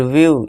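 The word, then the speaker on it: view: अब देखिए इस वर्ड में क्या आ गया, ई डब्ल्यू आ गया, तो उसका उच्चारण क्या होगा, फ्यू यानी कि कुछ। फिर न्यू यानी कि नया। फिर व्यू, ई डब्ल्यू सब में आ रहा है, जी हाँ, तो व्यू यानी कि देखना।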